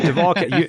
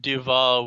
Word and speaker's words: Duval: You pronounced it Duval.